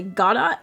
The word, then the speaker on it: Godot: Do you pronounce it in a French way? Like, is it Godot? Please explain. Yep, French way. God, it's a good thing I asked. I was supposed to say Godot.